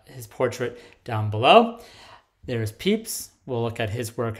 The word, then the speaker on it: Pepys: on are samuel peeps despite being written p-e-p-y-s his name is pronounced peeps you can see his uh his portrait down below there's peeps we'll look at his